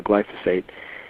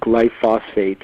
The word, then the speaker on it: glyphosate: correct is it glyphosate you're saying it both ways correct glyphosate glyphosate so so